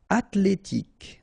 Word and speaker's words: athlétique: Athlétique. Okay, remember that H doesn't exist, so at-lé-tique. Remember, Q-U-E at the end, K.